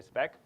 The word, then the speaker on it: spec: So that's how you say it. You say spec.